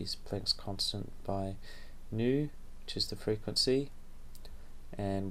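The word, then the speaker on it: ν: new which is frequency which is here pronounce new which is frequency why didn't they do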